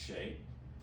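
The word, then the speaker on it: Hsieh: His name is spelled H-S-I-E-H, but it's pronounced Shay, who created the company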